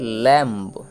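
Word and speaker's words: lamb: পি দেওয়া আছে ল্যাম্প, এল এ এম বি দেওয়া আছে যার উচ্চারণটা হচ্ছে ল্যাম্প, মেষ শাবক, এই বি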